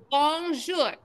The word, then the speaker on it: bonjour: Say bonjour.